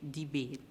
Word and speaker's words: debate: And we know that that sound is produced from the letter T. So we do not hear the sound of E. And so here we know that E is the silent letter in the word debate.